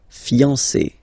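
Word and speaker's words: fiancée: But then, you don't pronounce it phonetically. Whether it's masculine or feminine, it will still be fiancé.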